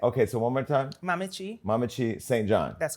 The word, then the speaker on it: Mamekyi: That ain't no I CH know, there. but that's the trick of it.